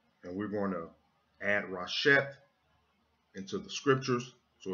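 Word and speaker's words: רֵאשִׁית: This Hebrew word is pronounced Rasheth, and when you translate Rasheth into English, it translates to Rasheth, not the beginning.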